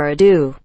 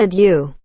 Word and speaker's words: ado: Without further ado. Not adieu.